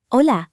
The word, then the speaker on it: hola: Say hola. Hola. Good. The H is silent.